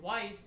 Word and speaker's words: Weiss: And Weiss is sometimes Y. Now, this doesn't work if you pronounce it the proper German way. Weiss. But it does if you are American.